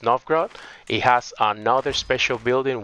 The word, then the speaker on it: Novgorod: This building, which is pronounced Novgorod, it has another special building which gives me martial also.